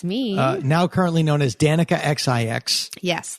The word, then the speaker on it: Danica XIX: now currently known as Danica XIX yes the 19 is silent it's fancy the xix